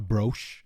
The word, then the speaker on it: brooch: She was also housed in a necklace that looked a brooch.